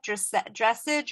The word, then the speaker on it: dressage: Dressage or dressage? Dressage. So that's the French term.